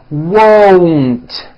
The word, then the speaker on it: won't: like that very good now won't first say wo with the w sound at the beginning and at the end and then you add n w now you put it together won't I won't go like that won't let's